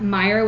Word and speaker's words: Meijer: And so we were at Meyer, which we don't have here. Have you ever been? It's spelled with a J. MEIJER, I something love like that that.